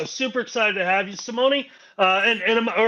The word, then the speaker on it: Simone: Super excited to have you, Simone. And all right. First of all, let's get this straight. Am I saying your name correctly, Simone? Almost. Simone.